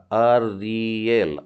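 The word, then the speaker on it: אריאל: तो इस नाम में हम देख रहे हैं आलेफ है, आ की मात्रा अ का उच्चारण आ रहा है, और रेश में ई की मात्रा, एक सिंगल डॉट डला हुआ योद और उसके बाद में एल, तो ये हो जाएगा अरियल।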